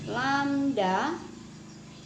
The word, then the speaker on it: lambda: Lambda itu mencari banyaknya gelombang. Dikenal dengan yang namanya panjang gelombang.